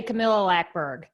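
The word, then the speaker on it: Camilla Läckberg: we I would say Camila laberg yeah that's that's the English pronunciation of it in Swedish in total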